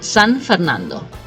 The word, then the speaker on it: San Fernando: short but I mean the correct pronunciation is San Fernando and that's really a